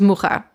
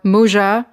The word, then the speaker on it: Mucha: time, the collaboration between Georges Fouquet and Alphonse Mucha. Or Mucha, or Muja, or even Mucha, depending on who you are